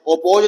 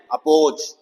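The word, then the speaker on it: oppose: कम ऑफ जाओ अक अपोज ऑपोज नहीं है ये अपोज अफीसर अकेजन ये अ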